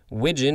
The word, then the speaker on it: widgeon: we have american widgeon widgeon is spelled like pigeon with a w w i g e